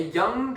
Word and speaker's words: young: A and the U, is the word young. Young. Exactly. Notice it's like that classic thing I mentioned earlier with the sound going into the nose and never quite saying g.